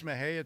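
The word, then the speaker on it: Mexia: It's Mahia, Texas.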